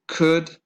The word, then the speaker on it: could: would be to again could would the L doesn't the left doesn't sound okay and all these